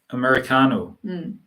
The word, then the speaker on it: Americano: So how can you say Americano? Americano. Americano. 약간 카에 조금 강세를 주시면 알아들을 수도 있어요.